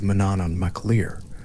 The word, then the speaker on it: Manannán mac Lir: She was the daughter of Manannán mac Lir, whose name identifies his domain, Maclir, meaning son of the sea being both his parentage and his territory. Manannán mac Lir was in the Irish tradition the lord of